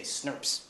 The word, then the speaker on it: SNP: stand up there and say snps that's how you pronounce that acronym this snurp works with